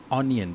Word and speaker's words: onion: How do you say onion? Onion. You don't say onion, right? You say onion. Walaupun ada huruf O kat depan, tapi bila kamu sebut macam ada A sikit bunyi dia.